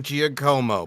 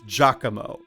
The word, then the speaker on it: Giacomo: friend I don't care it literally said in the audition sides it's pronounced Giacomo yeah that's how they like it pronounced and that's how you should audition with I heard your audition you said my name's Gia Como and I was like